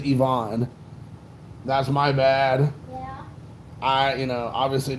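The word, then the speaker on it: Iván: ivan Rodriguez I'm sorry Ivonne Rodriguez I just recently found out that's how you pronounced it I thought it was ieaving this entire time but apparently is Yvonne that's my bad alright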